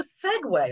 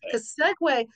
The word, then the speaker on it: segue: segue always got segue you see the word s and you don't think segue do you I wouldn't I mean I know it but I mean I don't think you automatically think that's segue you just said one